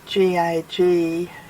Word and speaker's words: Gagudju: And I also discovered that the way that the name Kakadu is spelt is really not correct, and it should be Gagudju.